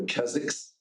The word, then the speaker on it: Keswick: The W is silent. It's called the Keziks.